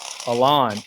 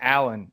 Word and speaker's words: Aalon: it looked like a totally different Ilan and they pronounced your name Alan in that whole commentary yes Alan and it drove me insane but anyways it is